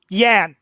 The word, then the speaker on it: Yan: Yan, just an A instead of an E. It's not yen, it's yan. It's one of those situations where the spelling changes the pronunciation.